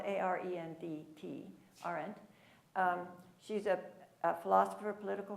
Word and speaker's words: Arendt: It's spelled A-R-E-N-D-T, Arendt.